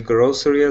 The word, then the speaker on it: grocery: So it sounds just like two Grocery. syllables. Yeah, like that.